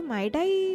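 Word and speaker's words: Mydei: एनिसार going for ट्राइबी और माइडाई, इसको माइडाई pronounce करेंगे।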